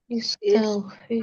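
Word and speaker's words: استغفر: Istagfir. Istfir. Iya. Istagfir. Karena ya tadi ini lebih dari empat huruf ya. Huruf ada 1 2 3 4 5 6. Ada enam huruf. Maka hamzah wasal otomatis dibaca kasrah.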